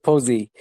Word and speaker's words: POSI: Is it pronounced POSI or POSI? How do you guys pronounce it? We pronounce it Posey.